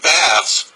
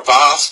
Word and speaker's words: Bath: with the appropriate name bath or bath to use the English pronunciation in England where a